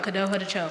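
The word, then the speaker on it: Kadohadacho: Kado had k A D O H A D A C H O Kadoha Cho.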